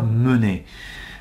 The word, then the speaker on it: mener: me mener à coeur parce qu'il n'ya pas d'accent sur le e et alors que je prononce eu à mener mais si je le